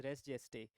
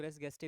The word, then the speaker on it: res gestae: जाता है, that is रेस जेस्टे। रेस जेस्टे को कई लोग रेस गेस्टे भी बोलते हैं, लेकिन इसकी करेक्ट प्रोनाउंसिएशन रेस जेस्टे ही होती है।